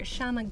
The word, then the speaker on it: Shyama: If you guys were here yesterday, you'll know that Shyama's an awesome illustrator, artist, designer, pattern extraordinaire. I don't know how you would describe yourself. Sure, that works. Okay. Shyama rhymes with llama.